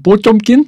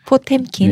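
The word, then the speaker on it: Потёмкин: 이게 엄밀히 말하면 전함 뽀쫌킨 뭐 이렇게 발음해야 되는데 포템킨.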